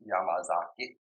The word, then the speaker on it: Yamazaki: how you actually pronounced yamazaki because it's not just spit out like that it's yamama Zak and so if you didn't catch that yamama Zak is how it's actually pronounced and you can say